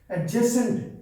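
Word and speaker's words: adjacent: एडजेसेंट, जैसे math में हम एडजेसेंट एंगल बोलते हैं तो वो क्या होता है? डी साइलेंट होता है, उसको हम बोलते हैं एडजेसेंट।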